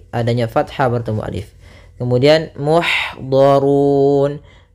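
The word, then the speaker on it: مُحْضَرُونَ: Kemudian muhdharun. Di sini ada ha salah satu sifatnya sama seperti ta, yaitu hamas, mengalirnya nafas kita. Ih, nah, maka alirkan dengan sempurna. Ih, maka muhdharun, donya tebal, durun tebal juga.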